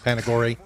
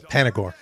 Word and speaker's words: Panagore: I did say it wrong last night, folks. I said Panagore. I'm going to slip. It's Panagore. I'm going to slip because I'm going to say Panagore.